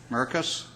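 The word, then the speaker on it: Merkes: Let me start my comments by saying I do not know the mayor of Menasha, Mr. Don Merks, I believe it is pronounced, Merkus.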